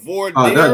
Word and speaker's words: voir dire: The voir dire? That's French.